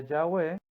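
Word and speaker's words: Yahweh: faraón con este mensaje jehová que es en hebreo se pronuncia yagüe ha dicho así israel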